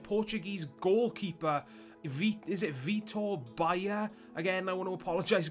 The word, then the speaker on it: Baia: am pretty confident in saying that it is Baia, so that's what I'm going to say for the rest of this review.